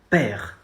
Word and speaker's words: père: You say mon père. Not mon père. Père. No. You know the French letter R specific?